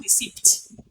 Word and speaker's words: receipt: where is your school receipt rece you pronounce the in receipt no you don't you say receip the P the p p is silent it's not articulated so